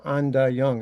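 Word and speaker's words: Ain Dah Yung: And then the following year, I got a job at this place called Anda Young. It's spelled AIN. It's the first word. The second word is DAH, and the last word is YUNG.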